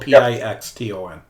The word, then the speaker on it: Pixton: It sounds like piston, but it's spelled P-I-X-T-O-N.